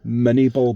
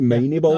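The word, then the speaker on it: Minié ball: They're called I think the nicknames from is it the the it's it's spelled like M I N I E ball mini ball but it may be mini ball. Uh I think it's French.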